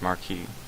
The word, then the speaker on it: Marquis: The correct pronunciation is Marquis. Come on. Watson, my dear fellow, we can now go and inform the Marquis that we have found the Samoan necklace, and